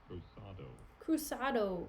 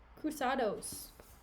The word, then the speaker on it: cruzados: Desdemona, believe me, I had rather lose my purse full of crusados? Why is it spelled like tornadoes, but with crusade? Crusados. It's a Portuguese coin. Cruzado, yeah. Cruzados. What is she doing in Portugal, bro?